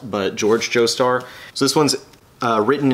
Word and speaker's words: George Joestar: to be this is the i want to pronounce it jorge joestar because of the way it's uh spelt but george joestar so this one's uh written and illustrated by